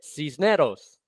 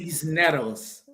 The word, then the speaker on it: Cisneros: You got to roll your R, and this is it. Cisneros. Perfect, dude. Cisneros.